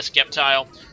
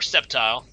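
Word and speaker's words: Sceptile: he goes in a skepti um or septile not skepti it's proun septile the sea is silent as somebody reminded me recently um and I'm was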